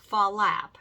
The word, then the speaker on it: flap: You're also going to notice that tap teachers say slap and flap as 2 syllables. Salap, falap. And that's because these are steps that make 2 sounds.